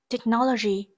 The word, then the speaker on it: technology: D, technology. Technology, từ này có trọng âm rơi vào âm tiết thứ hai.